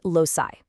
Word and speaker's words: loci: And its plural form is loci, pronounced loci, with the IPA spelling of primary stress mark, l o u {dot} s i i.